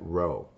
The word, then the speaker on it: rho: the Greek symbol here and we would we pronounce that Rho so Rho equals the correlation coefficient between the